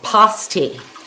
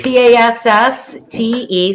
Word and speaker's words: pasty: Okay, it's pronounced pasty. Pasty. I've heard both ways. Passte. So that would, for me, that would be pasty. We heard people Hey, Linda. in the UP pronounce it both ways.